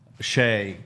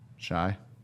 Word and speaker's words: Shai: Um, Shay is incredible. Shai. Shai is how you say.